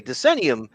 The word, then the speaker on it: Decennium: the uh TMNT denum huh denium denium okay denium uh some of the cast and some of